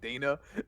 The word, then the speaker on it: Dana: way audience I realized pronouncing her name wrong it is in fact Dana not Donna my my apologies I'm